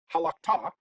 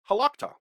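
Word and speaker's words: הָלַכְתָּ: Instead of halakta, it's halakta. It kind of goes up in the middle. Halakta is easier to say than halakta. Okay, so that's another way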